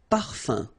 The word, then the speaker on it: parfum: You don't pronounce the M at all. Un. Okay? So par, fin, parfum.